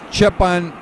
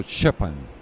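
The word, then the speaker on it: Štěpán: It's like Steven, but you say Stepan. So Shepan. Shepan, yeah.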